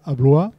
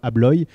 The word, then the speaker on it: Abloy: concurrent finlandais qui s'appelle Abloy. Et tous deux, en 1994, ont décidé de s'unir et puis d'aller à la conquête du monde, tout simplement. Voilà, moi je l'ai prononcé à la française.